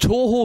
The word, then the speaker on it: Touhou: Das ist Toho Beastar Cosplay, so wie es ausgesprochen ist. T-O-U-H-O-U.